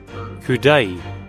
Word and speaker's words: coup d'oeil: Okay, also, how do I pronounce this word? Kudai.